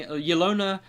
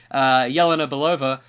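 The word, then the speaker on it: Yelena Belova: pure will be playing Ilona oh sorry I know this character so I should say it correctly Jelena Bulova who is the second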